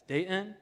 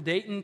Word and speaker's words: Dayton: You know someone's from Dayton when they don't pronounce the T. It's Dayton.